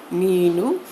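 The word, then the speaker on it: ನೀನು: नीनू, अब यहाँ पे जो लाइन है ना वो इसलिए दिया गया है जिससे कि आपको जानकारी मिले कि ये थोड़ा आपको प्रोनाउंस जो है वो थोड़ा लंबा करना है, ठीक है, खींच के।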